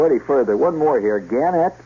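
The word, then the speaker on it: Gannett: further one more here ganet or ganet they they prefer to pronounce it ganette Westchester newspapers starting Wednesday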